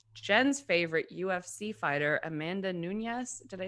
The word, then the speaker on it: Nunes: pronunciation for your name it's actually nunes but they've decided to call her nunes okay and if you were doing in spanish it would be nunez but she's not she's brazilian anyways long